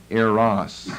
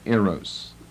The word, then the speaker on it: Eros: together with Eros love sometimes you'll hear an air Ross but it's really has a long o in it arrows and here's probably another